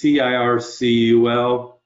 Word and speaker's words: Circul: Just do a search on Circul, and it's Circul. Okay, it's pronounced the same, but there's a typo.